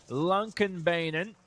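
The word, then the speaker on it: Lånkebanen: a low 37 second lap time here around Lumpkin Beynon as some Norwegians helped me pronounce over the past few weeks hello rallycross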